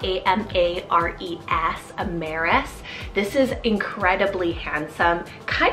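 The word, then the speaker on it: Amares: also means twin now I have the name amaris it's spelled a-m-a-r-e-s Ameris this is incredibly handsome kind of romantic too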